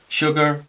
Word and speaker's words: sugar: Cuando va la S sola, a veces también se pronuncia así, como si fuera SH. Sugar, sugar, sure, sure.